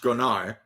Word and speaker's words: grognard: A Gronar, and that's how it's pronounced, Gronar, is a grumbler.